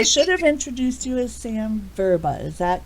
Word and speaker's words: Verba: exactly so I should have introduced you as Sam verba is that correct pronunciation yes perfect Samantha Boba all right well